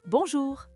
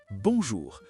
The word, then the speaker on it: bonjour: Bonjour. Il y a un son nasal très important sur le on. Ce n'est pas bonjour avec un N fort à la fin, c'est une vibration dans le nez.